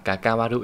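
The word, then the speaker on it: 関わる: Từ quan mà nó có cái đuôi là waru ấy, thì cách đọc của nó là kakawaru nhá. Đọc theo cái âm nhật của nó.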